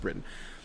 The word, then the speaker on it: Briton: T o N so I thought it was pronounced Brighton for some reason because that's what it looks like but it's pronounced Britain so Hassan zu ba a bright of Britain